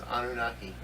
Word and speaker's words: Anunnaki: Yeah, you spell that. It's right here. Just okay. What did I do? Anunnaki. Annunaki. It's Anunnaki.